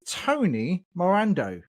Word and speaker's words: Tony Morando: So, my guest today is Tony Morando. Have I pronounced your name correctly?